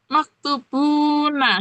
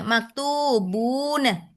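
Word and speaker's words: مكتوبون: Baik, Ustaz itu bacanya tetap maktubuna gitu ya? Iya, maktu gitu. Iya, maktubuna. Oke, ya. Untuk di kalau kalau biar tahu harakatnya. Tapi kalau enggak mau ngomong biasa maktubun. Jarang diharakati terakhir-terakhirnya jarang.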